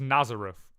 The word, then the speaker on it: Nazareth: Now we have Be Nizareth. It's Nazareth, right? In our language, but they spell it weird.